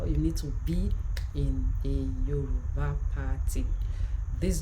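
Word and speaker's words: gb: It is not pronounced gib. No, don't say gib. No, don't say gib. It's pronounced together. B.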